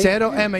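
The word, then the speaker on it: Zero M: How do you pronounce the M-A? Zero Emma, yeah, it stands for no fear, zero fear.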